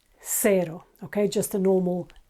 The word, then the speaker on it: cero: Okay, written with a C, and because it's followed by an E, it's pronounced cero. Okay, TH sound as in Thursday, thank you, cero. Okay. In Latin America, it will be just a simple S, cero.